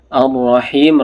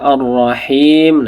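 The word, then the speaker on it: الرَّحِيمِ: Arrahim. Rnya juga huruf tebal. Ee dibaca tebal ron-nya ya. Arrahim.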